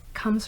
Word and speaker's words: Khalm: of calm skin care com is spelled k-h-a-l-m and it's a mix of my last name khan and the state of being calm and i love that